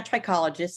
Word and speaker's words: trichologist: cosmetologist and she's a trichologist am I pronouncing that correctly Jen yeah trichologist it's an associate trichologist